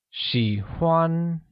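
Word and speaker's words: 喜欢: say like and drawing like literally translates to she won using the third tone for i and the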